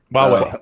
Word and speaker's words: Huawei: And then, Hui, is that how you pronounce them? Hui. Huawei.